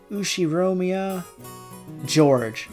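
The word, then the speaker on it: 右代宮譲治: His name is, and it's pronounced Ushiromiya George.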